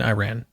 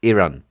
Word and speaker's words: Iran: to nitpick here, but can we just please stop just calling it Iran? I don't know why, you know, Americans can pronounce other words properly, like Italy and Iceland, but Iran is Iran.